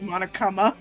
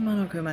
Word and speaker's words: Monokuma: Did you just pronounce it Monokama? No, I said Monokuma.